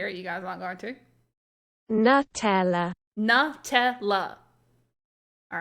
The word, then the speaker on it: Nutella: The makers of Deutsche Nutella ist say Nutella. New, like Nutella. Yeah, new, like new clothes or new like newt.